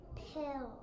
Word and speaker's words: pill: So I'm going to be giving my short vowel a breathe, and then I'm going to be crossing out one L as it is silent. What's our word? Pill.